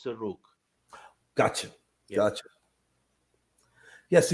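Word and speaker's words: Serugh: Jacob of is it Sarug or Saruj? How do you pronounce that? You could say it in either way. It's okay. Okay, what are your thoughts? The Syriac way is Suruk.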